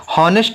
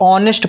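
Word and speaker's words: honest: अगर हम इसी तरह ऑनेस्ट की बात करें तो हॉनेस्ट नहीं पढ़ते, इसको ऑनेस्ट पढ़ते हैं, यानी कि जो एच होता है वो साइलेंट हो जाता है।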